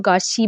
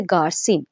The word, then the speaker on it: Garcin: ये जो जोसेफ गार्सिन भी इसे कहा गया है और गार्शी भी कहा गया है। मैंने आपको बताया ये फ्रेंच के अंदर फर्स्ट टाइम लिखा गया, तो इसे आपकी इसकी प्रोनाउंसिएशन चेंज हो सकती है, लेकिन इंग्लिश प्रोनाउंसिएशन के साथ हम चलेंगे तो हम कहेंगे इसे गार्सिन, जोसेफ गार्सिन का कैरेक्टर।